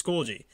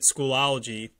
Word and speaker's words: Schoology: into the lms and we use schoology i pronounced it schoolology probably a hundred times over the course of